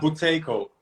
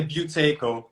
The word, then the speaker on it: Buteyko: pronounce it correctly yeah buteyko or in english they say buteyko but in russian is buteyko okay yeah i